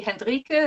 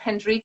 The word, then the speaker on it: Hendrike: your name correctly um well the German pronunciation would be hendrika about henrique it's fine right okay so are